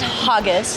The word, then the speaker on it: haggis: time to try ha haggis haggies it's pronounced hogus it smells really good it